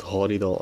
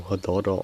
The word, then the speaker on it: Hadada: The ever magnificent Hadida ibis, or Hadada ibis, however you wish to pronounce it.